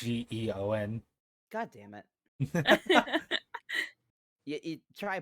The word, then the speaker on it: Geon: You said Gon, it's Geon.